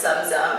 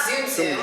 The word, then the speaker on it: Zum Zum: uh kind of pronounced like Tums or gums right so it's zum zum it's not zoom zoom I not a Mazda